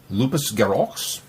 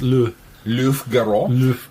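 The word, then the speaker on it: Loups-Garoux: And Big Finish, main line, number 20, Lupus Garox, which I probably murdered that pronunciation because it is French. Which It's is not lupus. It's Luf Garox, Gero.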